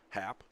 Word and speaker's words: Happ: Boston, by the way, is spelled B-O-S-T-Y-N. Happ, H-A-P-P.